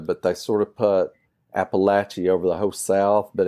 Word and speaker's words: Appalachia: then I would say well my my preferred pronunciation is appalache it just feels more correct and and as